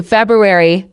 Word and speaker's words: February: d example our meeting is on Wednesday three February not February gives a Febru I example I